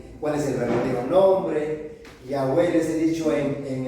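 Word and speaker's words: Yahweh: le llaman bueno yah Jehová o yahwe como lo pronuncian en hebreo bueno es Dios y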